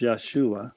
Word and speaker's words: Yeshua: But I just learned that this year about his real name being pronounced Yeshua.